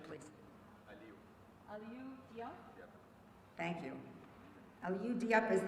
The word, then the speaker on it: Aliyu Diop: And the third one is, can you help us with the pronunciation, please? Aliyu Diop.